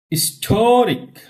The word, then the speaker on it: historic: Historic.